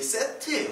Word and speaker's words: 셋: 셋을 낳았는데 이게 세트예요. 세트 발음은. 이집트 신화 중에 세트가 있죠? 세트. 그 세트랑 같은 발음입니다.